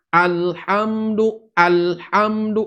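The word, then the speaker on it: الحمد: Harusnya bacaan itu, lam itu tidak mantul, kemudian huruf-huruf yang lain juga tidak memantul. Alhamdulillahi Rabbil Alamin. Alhamdu, lamnya tidak boleh mantul.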